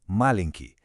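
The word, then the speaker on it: маленький: Já o contrário pequeno é malenk. Ouve bem a diferença da sílaba tônica. Balcho contra Malenk. Na segunda, a força tá no começo.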